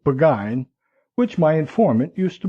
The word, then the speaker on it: Burgoyne: Nutting had a famous foxhound named Burgoyne, he pronounced it Buggine, which my informant used to borrow.